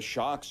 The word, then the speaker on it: SHOKZ: also some of the men my age, but the Shocks are making.